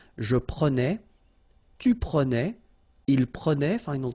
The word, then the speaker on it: prenais: Alright, so same thing here, final S not pronounced. Je prenais, tu prenais, il prenait, final T not pronounced, so the same form, okay?